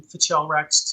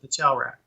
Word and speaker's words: Fichelrak: an adventure that became Fichelrak's Tomb. And that's how you pronounce it, Fichelrak.